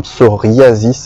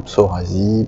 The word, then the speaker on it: psoriasis: Et on dit bien psoriasis alors que le grec vient de psora, ce qui fait que bien souvent les gens ont du mal à prononcer ce mot et j'entends de nombreuses interprétations, psorasie, psorésie, etc.